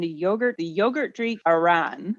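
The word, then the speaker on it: ayran: yogurt the yogurt drink Aran and that's a y r a n Iran maybe might be a better way to pronounce it because it's got the Y her energy and talent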